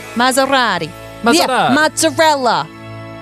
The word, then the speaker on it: Maserati: Why is it an S and not a Z? Is it Maserati? No, it's S. Maserati? That's how you say it? Yeah. Maserati? It's Italian. Maserati.